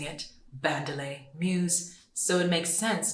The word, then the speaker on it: Bandele: people to gradually get used to the name bandelay Muse get used to pronouncing it bandelay Muse so it makes sense to have the